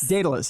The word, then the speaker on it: Daedalus: they're about to Now, correct me on the pronunciation of the library. Is it Daedalus. Daedalus, yes.